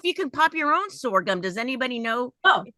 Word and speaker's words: sorghum: Oh, sorghum, sorghum.